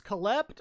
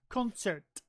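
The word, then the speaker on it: Концерт: call it they say what is it it's collect or something like that it's actually pronounced concert and it's the Russian word Berg that's what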